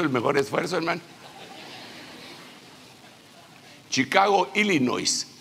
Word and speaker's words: Illinois: Chicago, Illinois, no se pronuncia la S, le dicen a uno, hermano.